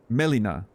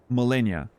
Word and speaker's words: Melina: morg God specifically and you were summoning Melina which you kept calling Millennia and I was like